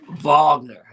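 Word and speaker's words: Wagner: Mo Vagner. Okay. The name start with a W, but it's pronounced with a V.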